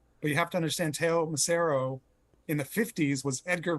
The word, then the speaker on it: Teo Macero: loops and stuff it's pretty it's pretty seamless teo macero did i pronounce that right yep was the producer behind